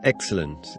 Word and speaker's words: excellent: with an Italian accent where's the accent in the word excellent the accent in the word excellent is on the first syllable to depend on do